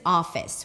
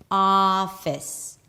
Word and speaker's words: office: The next word is office. We begin with an ah sound. So even though there is an O here, it is pronounced with an open ah. Office.